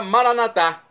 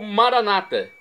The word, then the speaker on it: Maranatá: E agora, Maranatá, do aramaico, dialeto de Jesus, ou Maranata, como dizem os irmãos separados dos católicos, os evangélicos ou protestantes. O significado é o mesmo. As pronúncias são diferentes, mas o significado é o mesmo.